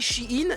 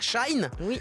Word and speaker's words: Shein: chinois Shein déjà j'ai découvert aujourd'hui qu'on disait Shein et pas Shine rien que pour ça ça me pète les